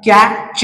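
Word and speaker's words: catch: लक्षात घ्या त्याच्यानंतर आहे कॅच आता कॅच हा शब्द वाचन करताना टीटी हा जो लेटर आहे तो सायलेंट होताना दिसत आहे आणि सीचा उच्चार च असा करायचा आहे म्हणजे कॅ च त्याच्यानंतर आहे ब च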